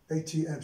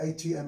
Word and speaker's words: ATM: But you see here with these two, هذا pin will ATM. شوف هذا ATM, I pronounce it as separately.